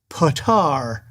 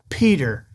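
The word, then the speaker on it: Petyr: pronounces Peter Bish as patar all the way through the book yes it is spelled p t yr but that is pronounced Peter it's not patar it's just Peter in Nora Roberts the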